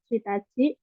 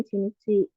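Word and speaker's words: 一日: Tapi untuk yang 1 hari itu bukan Shitachi, tapi dibacanya Ichinichi.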